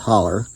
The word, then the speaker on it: Hollow: It was a typical Appalachian Hollow community, pronounced holler.